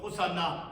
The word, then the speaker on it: 호산나: 자, 구원하소서, 구원하는 간청, 호산나. 이 호산나라고 하는 이 발음은 신약 성경이 기록되어 있는 그 헬라어 발음으로 호산나라고 발음하고 있는 것입니다.